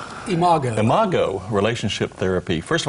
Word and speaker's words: Imago: about, is it called Imago? Imago. Imago Relationship Therapy. First of all, tell us what that is. Well, it's spelled I-M-A-G-O, and the word imago is actually a Latin word that means image, meaning when we grow up,